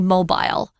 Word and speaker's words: mobile: There's a pronunciation of this word mobile that's different. If you're in the UK, they say mobile.